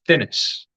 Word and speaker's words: Thinis: Remember, Thinnas. I think it's Thinnas. It's pronounced Thinnis. It's spelled Thinis. So it sort of pronounces as it sounds, but with my dodgy accent, it could well be anything.